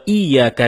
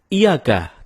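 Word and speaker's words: إِيَّاكَ: bodoh wa iyyaka nasta'in ada yang membacanya dengan Iyakah tidak menekan huruf Ia seperti seperti sebagaimana kita jelaskan tadi bahwa penekanan itu dapat merubah makna kalau kita baca iyakanabudu dengan menekan huruf ya maka artinya menjadi kepadamu lah kami menyembah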